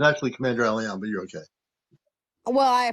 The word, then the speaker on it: CmdrAleon: If I said your name wrong, I No, apologize. that's all right. It's actually CmdrAleon, but you're okay.